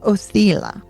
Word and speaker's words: Othala: And then our Elder Futhark closes with one rune, Othala. Othala, the ancestral homeland. It's also been pronounced Othila. So, Othila Othala.